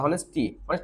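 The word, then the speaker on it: honest: আমি যদি হনেস্ট হনেস্ট হ্যা সত হনেস্ট সততা অনেস্টি সততা এখানে দেখেন অনেস্টি আমরা জানি সততা বলি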